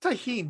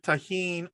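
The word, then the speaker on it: Tajín: One of them was an easy one, because one of them was, he says, put tahini. Do you know what tahini is? It's spelled Tajin.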